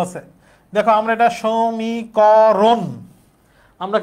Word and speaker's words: সমীকরণ: সমীকরণ বলি? সমীকরণ বলি। দেখতেছি তো স দন্তস লেখা। এই যে দন্তস একটা অ আছে। এ এর উচ্চারণটা কি অ এর মত হবে?